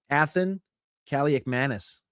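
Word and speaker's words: Athan Kaliakmanis: Athen Calak Manis. You like that one? I know that. I know that pronunciation because my brother's asked me a hundred times.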